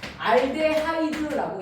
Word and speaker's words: 폼알데하이드: 폼알데하이드라고 얘기합니다. 폼알데 무슨 드 얘들아? 하이드. 선생님 학교 다닐 때 히드라고 배우고 그랬어. 근데 이제 점점 화학하는 사람들이 저거를 이제 발음을 했을 때 모두가 알아들을 수 있어야 되다 보니까 전 세계 공용으로 쓰는 이름으로 가야 된다는 얘기지.